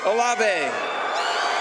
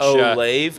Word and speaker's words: Olave: Olave, man, he is literally one letter from Olive. Oh, yeah. One letter that separates them, and then you pronounce the E as well.